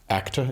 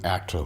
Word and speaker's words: ACTA: Dustin moanin and Dustin is a co-founder of ACTA is that how it's pronounced yes ACTA correct and which is ACTA Winery how are